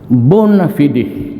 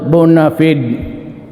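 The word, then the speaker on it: bona fide: The bonafidi media. Bonafidi media. Sometimes they pronounce it bonafided.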